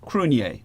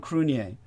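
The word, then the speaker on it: Cruithne: Earth which is Cru crun it's named after uh the Irish um uh an ancient Irish God uh and so crun is spelled like very Celtic you can't pronounce it the way it's spelled it's c r UI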